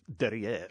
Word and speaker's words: derrière: And I said, their theme is smell our derriere. And he just looked at me. I said, you don't think that's funny? And then he gives me the correct pronunciation in French, apparently, derrière or whatever it was.